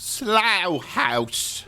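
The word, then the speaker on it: Slough House: are numerous British listeners I believe it's pronounced slow house it's slow house yes let's go down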